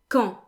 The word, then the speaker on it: quand: Next up, we have quand. Quand. The D is silent.